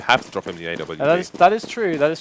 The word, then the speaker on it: AWP: Because they pronounce WV. Yeah, they say AVP. But that's incorrect, Jake. That's Alien versus Predator. The Arctic Warfare pistol, not. Exactly. It's an English gun. You pronounce it with a W, son.